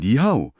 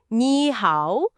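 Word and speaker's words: 你好: 아, 그래서 삼성이 연달아 올 때 중국인들은 자연스럽게 앞에 삼성을 이성, 그러니까 쭉 올라가는 소리로 바꿔서 발음해요. 오, 그래서 니하오가 아니라 니하오처럼 부드럽게 연결되는 거죠.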